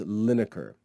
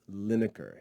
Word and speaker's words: Linacre: mention would be thomas lineker thomas lineker his name his last name is spelled l-i-n-a-c-r-e thomas lineker thomas lineker was a